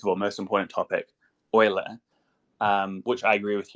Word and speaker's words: Euler: to be onboarded to Euler Finance yes that is the correct way to pronounce that even though it's e-ul uh and oil effects